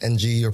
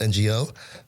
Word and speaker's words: Ngo: And then, so the last name should be, the Chinese spelling is Ng or pronounced Ing. So, but coming from Vietnam, the Vietnamese way to pronounce it or spell it is Ngo.